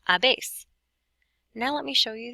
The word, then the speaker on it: habéis: How do you pronounce H's in Spanish? If you said you don't, you are correct. So this would be pronounced a, hemos, and habéis.